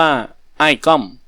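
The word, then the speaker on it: อ้ายก้อม: นาม ว่า ขุน ลั้ว อ้าย ก้อม อ่าน ว่า อ้าย ก้อม ได้ มา กราบ ไหว้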